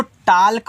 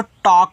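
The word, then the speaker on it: talk: इसको टालक मत पढ़ देना। इसको टॉक पढ़ते हैं। क्या पढ़ते हैं? टॉक। यानी यहां पे एल साइलेंट होता है।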